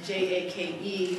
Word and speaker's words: Jaech: And I learned that it was originally pronounced Jaech. So I'm grateful that that pronunciation didn't carry over into the American pronunciation. J-A-K-E is much easier to remember that that's how it's pronounced.